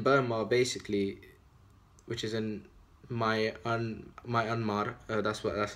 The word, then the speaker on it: Myanmar: But in Burma, basically, which is in Myanmar, that's how you say it, you know, Muslims